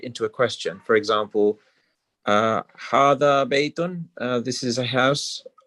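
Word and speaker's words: هذا: Hada is pronounced hada, but is written without the first alif.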